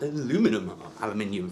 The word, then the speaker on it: aluminium: apparently is made from aircraft grade aluminium for us proper Brits out there. You know, that's the proper way to say it.